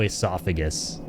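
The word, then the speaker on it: oesophagus: of that is it starts with an O and when you read the word it sounds like you have to say it is O esophagus like something like this I think that's how you spell it in British English right and then pretty sure the way the rest of the word spells it America spells it is how it looks like you should say it which is how you say it without the O I think that's literally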